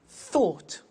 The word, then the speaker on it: thought: Think, thought. Watch that again. O-U-G-H-T, ought.